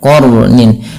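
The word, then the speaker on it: قَرْنٍ: ya qnin di sini qnya tebal dan rnya juga dibaca dengan tebal sehingga diwarnai di sini warna biru yaitu Artinya kita membacanya dengan Jangan dibaca qar tapi dia qarnin nah sifat huruf ro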